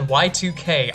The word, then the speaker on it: YIIK: wonderful world of Yik that said Y2K I am going to pronounce it Yik and you cannot stop me the developers